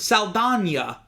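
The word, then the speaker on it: Saldaña: And one of them is Zoe Saldana. Yeah. Who, two things. One, her last name really is supposed to be pronounced Saldana because it has the little thingy over the N.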